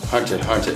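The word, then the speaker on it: Hunter × Hunter: not wrong it's called hunter hunter 900x hunter the x is silent what do you mean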